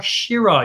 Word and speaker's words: Syrah: Not syrah, syrah. You have to say it like you're either Sean Connery or you've had 6 bottles of bubbles for lunch.